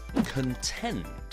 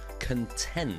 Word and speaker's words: contend: The fourth word is contend. Contend. And the stress is on the second part. Tend, contend. And this means that you are arguing for something.